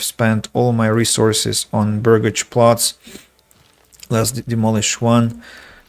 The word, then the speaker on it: burgage: the in their dictionary what excuse me uh baggage burgage burgage says Oxford but Cambridge refuses to elaborate just